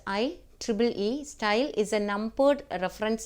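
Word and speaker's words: IEEE: it is I E so you can pronounce i Tri e style is a numbered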